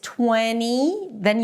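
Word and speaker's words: twentieth: If we want to say the word 20th, it starts again with 20, but then it has the ending if. if. So basically it's 20, then you end it with a high E, and then you drop your tongue a little bit to a relaxed I as in sit.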